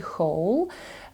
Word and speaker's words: whole: Black Hole чорна дира і в нас є слово яке пишеться по-іншому вимовляється також як і whole подивіться пишеться не H O а w o і воно буде означати